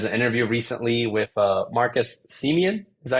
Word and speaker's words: Semien: There's an interview recently with Marcus Semien. Is that how you pronounce Yep, his name?